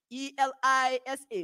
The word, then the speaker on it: ELISA: acronyms polymerase chain reaction e-l-i-s-a which pronounced elisa and acronyms enzyme link